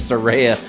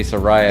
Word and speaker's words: Saraya: talk about Soraya Saraya her name is Saraya don't say Soraya it's Soraya I've been